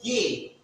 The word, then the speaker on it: G: This letter is pronounced as G. G. G. As we say G in English.